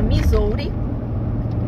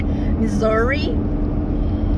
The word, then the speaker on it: Missouri: Esse estado se chama Missouri, ou Missouri, as pessoas têm diferente pronúncia, né? Aqui o povo fala mais é Missouri.